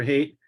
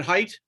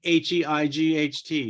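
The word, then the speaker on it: Hait: in January with Dr hate and um height yeah pronounce it height height yep like h-e-i-g-h-t yep that's right height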